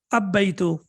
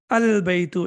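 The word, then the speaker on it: البيت: Al-baytu or ab-baytu? How should I pronounce it? Any idea? Al-baytu, excellent.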